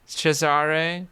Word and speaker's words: Cesare: How do you pronounce Cesare. it normally? Cesare.